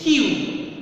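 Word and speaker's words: queue: If you remove 4, it is a 5-letter word, and if you remove 4 letters, still the pronunciation will be same. It is Q, right?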